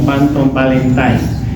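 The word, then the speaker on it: Panton-Valentine: famosa la panton valentine la escribimos como panton valentine pero en realidad la pronunciamos como phanton valentine esta es una leucocidina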